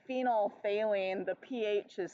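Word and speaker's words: phenolphthalein: think of Sylvester the hatat because it's got phenol phine okay we don't actually say it like that we say phenol phine the pH is silent but um it's so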